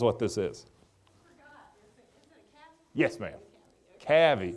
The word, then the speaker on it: Cavy: Cavy. Say that again. Cavy. C-A-V-Y. I'll spell it right here in a second.